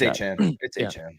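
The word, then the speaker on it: Achane: It's a Han.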